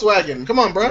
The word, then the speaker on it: Volkswagen: Where's the V? That's the V. That's how it's pronounced. Volkswagen.